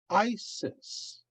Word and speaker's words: Isis: yoda the i and it is a long i sound and so that would be isis it could also be